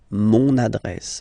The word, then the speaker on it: mon adresse: mon adresse, my address, mon adresse, okay, you can hear now this little link, so you've got to pronounce this N, mon adresse, okay.